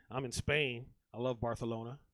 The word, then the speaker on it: Barcelona: in Spain I love Barcelona that's how they pronounce it they call it barcalona and that's how I